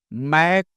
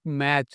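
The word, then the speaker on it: Mach: Mac number Mac M A C H it's not match remember M A T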